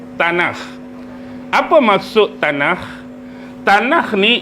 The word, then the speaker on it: Tanakh: Ejaan dia T A N A K H T A N A K H tanah.